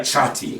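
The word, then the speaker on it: tjati: It's like chatty. It's like Chati, really, Okay. more than anything.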